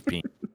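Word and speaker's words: Piin: Yeah, I don't care. It reads as Peen.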